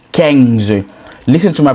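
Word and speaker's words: quinze: So a bit like queens but it's Kang. Listen to my pronunciation so you don't get it wrong.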